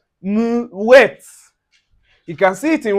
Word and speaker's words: mouette: So you can see anywhere you see the o u plus the i or you can see o u plus a vowel. So it gives us the oui.